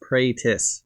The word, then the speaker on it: Pratis: Alright, you can call me Mr. Pratis, pronounced Praytis, like if someone combined praying mantis into one word.